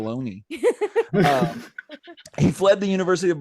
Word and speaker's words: Bologna: I'm horrible at pronouncing things, so it sounded good. I was just glad I didn't Sounded say right. Bologna.